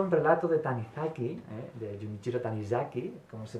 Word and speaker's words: Junichiro Tanizaki: Me ha recordado un relato de Tanizaki, de Junichiro Tanizaki, como se pronunciaría en japonés, que se llama El tatuador,